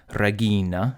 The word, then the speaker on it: Regina: Regina, because the penult has a long vowel.